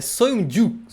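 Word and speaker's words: Söyüncü: Mas tu falou errado a pronúncia, cara. É Soyuncu.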